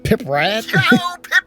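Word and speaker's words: Pripyat: And as I had previously mentioned, the developer took 3D scans of abandoned radioactive city of Piprat It is pronounced Pritet.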